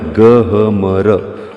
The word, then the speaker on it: गहमर: हां बहनों भाइयों तो इसका नाम है गहमर ग ह मर जिसका उच्चारण गहमर किया जाता है और यह भाई भारत